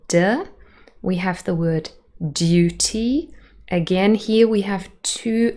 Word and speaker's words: duty: not be very Americans instead it is Duty Duty so you can hear it's quite a soft sound almost sounds like a dirt really in the second syllable and one more example